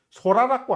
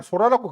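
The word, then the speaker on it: Sora: 그리고 이게 작년에 4월 달인가 그 데모 버전이 한번 정식 버전 아니고 되면서 뭐 세상을 발칵 뒤집어 놓은 소라라고 하는 것인데 먹는 소라가 아닙니다.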